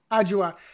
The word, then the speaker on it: Adjoa: So, and how do you pronounce the name again? Adjoa? Adjoa.